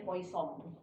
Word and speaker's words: Poisson: Bacanya Poisson.